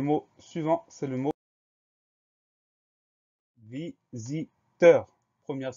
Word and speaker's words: visiteur: Le son Z. On va l'obtenir avec un S unique, puisque ce S est cerné par deux voyelles, le I avant, le I après. Donc, il va se prononcer Z.